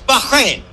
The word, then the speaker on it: Bahrain: Bahrain and you know we don't pronounce it right it's Bahrain Bahrain B Bahrain okay he said Bahrain